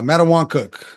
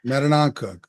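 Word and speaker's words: Mattanawcook: to class C uh mat Wan cook I still can't say it right that's Mook Matan cook Matan cook they will always be mat Wan cook for me uh they improved to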